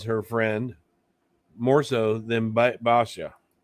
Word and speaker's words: Basia: And I hate to say it, but um Bosa uh and I can't pronounce her name right. Bosa. Basa. Basha. What's the correct Bosa? The correct Polish is Basha.